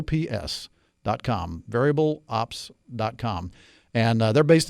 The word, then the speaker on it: Veryable: founder and CEO of a company called variable or very able person first one variable